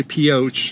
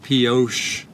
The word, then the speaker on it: Pioche: I'm gonna say Pioche in honor of how he pronounced it. I'm sure that's how it's said, so not Pioche.